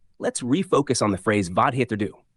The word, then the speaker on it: vad heter du: Let's refocus on the phrase vad heter du, pronounced vad heter du.